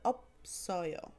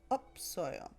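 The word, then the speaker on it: 없어요: When it's conjugated, it turns into opsoyo, opsoyo. But when it's not conjugated, or when the first syllable block is followed by a consonant, it's opta, shilta, shilta, yodol, yodol.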